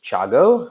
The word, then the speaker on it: Thiago: the schools in Milan my name is Tiago I am from Brazil originally that's where the name and the pronunciation come from but I spent many